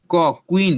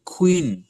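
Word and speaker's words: queen: আর খ উচ্চারণ করলে উচ্চারণ আসবে কোয়ালিটি আমরা উচ্চারণ করতাম কুইন কস সুকার রসই ন কুইন এটা এখন থেকে উচ্চারণ কুইন না হয়ে খ হবে কুইন কুইন কোয়ালিটি কোশ্চেন আমরা বলি কোশচেন টলবি কোশচেন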